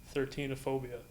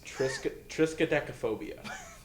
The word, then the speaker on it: triskaidekaphobia: 13-ophobia. No, it's triskaidekaphobia.